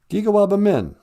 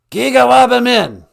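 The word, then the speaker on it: Giga-waabamin: We don't say goodbye. We say, I will see you again. Gigawaba Min. Minowa. Gigawaba Min.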